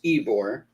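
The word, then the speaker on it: Ybor: on something uh just came in ebor okay pronounce ebore is in tampa like bourbon street in new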